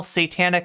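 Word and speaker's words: Seitanic: for the bad the YouTube channel satanic and that's spelled like say the the food seitan uh which if you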